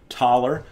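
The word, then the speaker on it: Thaler: taller and of course the german th would be pronounced taller and taller technically in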